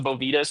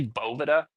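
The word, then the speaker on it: Boveda: Or you can use little humidity packs, the bovas today. I found out, do you know, it's actually boa is how you pronounce it.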